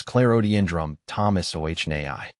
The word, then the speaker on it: Clerodendrum thomsoniae: It's pronounced as clarodendrum thomas o naii.